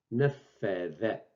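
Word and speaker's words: نفّذ: Nafadha. Nafadha. C'est le the de l'anglais.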